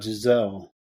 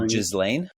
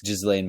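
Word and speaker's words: Ghislaine: I have a question about Jazelle. So Jazelle is You mean Jazlain? Jlane. Max. Yeah. Am I saying it wrong or? Yeah. Okay. It's Jazain Max.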